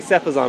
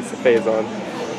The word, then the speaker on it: Phazon: Yeah, I say Cephazon, but it is supposed to be Phazon.